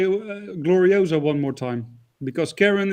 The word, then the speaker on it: Gloriosa: Glorisia. Oh my goodness, that was possibly, I've never laughed so much. She called Gloriosa Glorisia.